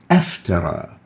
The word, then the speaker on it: أفترى: Now we don't pronounce it a iftara, but we pronounce it like this. Aftara.